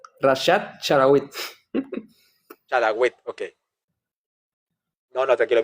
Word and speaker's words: Rashad Chlaiwit: Vamos a aprender exactamente primero cómo se escribe, se pronuncia exactamente tu nombre y apellido. Bueno, primeramente, gracias por la invitación. Mi nombre es Rashad Charawit. Rashad Charawit.